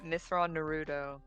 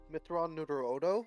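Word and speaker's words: Mitth'raw'nuruodo: But it's our good boy Mithron Naruto. Mithron Nuruodo, actually.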